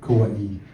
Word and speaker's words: Kauai: And that is the proper way to say it, Kauai.